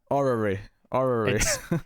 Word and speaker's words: orrery: Orrery. It's like an extra syllable of those letters that just shouldn't fit together.